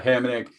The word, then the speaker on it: Hamonic: your defenseman you like, I also like Travis Hamrnick. He's min priced. He's seeing a ton of minutes. So if you have to punt, I don't mind him as well. Yeah, Hamonic.